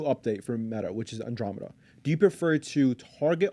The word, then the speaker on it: Andromeda: Andromeda? Yep. Okay, cool. You said you target for your audience. Now, do you prefer with this new update for Meta, which is Andromeda, do you prefer to target audience or let